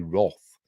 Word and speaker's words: wrath: don't we but the the English pronunciation is supposed to be wroth um but we'll say wrath I've always said wrath but um anyway whatever a